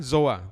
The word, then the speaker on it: zoe: Nah, yang ketiga adalah zoa, tulisannya ZOE. Yang biasanya di dalam bahasa Indonesia, bahasa di Alkitab namanya kehidupan, life. ZOE bacanya zoa.